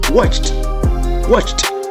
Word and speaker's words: watched: The sound is ch. So when we add ed, we pronounce as watched. Try to pronounce as t.